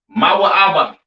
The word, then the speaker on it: Moab: have Moab all right Moab pronounced ma ABA all right the children